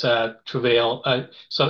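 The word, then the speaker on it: Trouvaille: our website it's a travail uh so it's actually uh t r o u v a i l l e it's a French word so you actually pronounce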